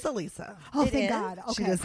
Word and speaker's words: Alisa: have you been saying I've been calling her Alisa it is Alisa oh thank God she